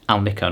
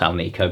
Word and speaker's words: Alnico: have the AL nickos apparently it's Al Nico not our Nico because it's aluminum nickel Cobalt I knew that but